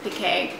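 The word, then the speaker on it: piqué: call the performance pique it's spelled like performance peak but they have a little apostrophe on the e so i think they pronounce it pk i've ordered two yards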